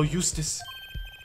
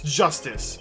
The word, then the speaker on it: Justice: defendant lobby number two apollo eustis that's justice better learn how to say it if you ever want